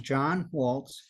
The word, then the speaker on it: John Walz: be addressed as oh sure my name is John Walt JN w l z is and zebra and